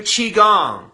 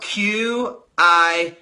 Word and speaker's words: Qigong: People in Eastern cultures literally do Qigong. It's spelled Q-I-Gong.